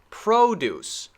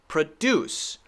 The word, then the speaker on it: produce: the beginning stressed right because nouns stress the first syllable produce produce produce this one is a verb so we should stress the second produce produce so the pronunciation